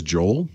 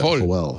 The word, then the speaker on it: Joel: His name is Joel. But, of course, in Mexico, you pronounce that Joel. Joel. Joel.